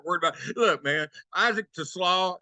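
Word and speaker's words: TeSlaa: about look man Isaac to slaw he called him to slaw so I'm gonna take Sam's words that's how you pronounce that name Phil I had no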